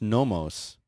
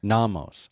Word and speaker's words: NOMOS: So anyway, people in the chat room have corrected me, telling me that it's not pronounced nomos. It's pronounced. They say that it's a short O, like in office. Nomos. Namos, office, namos.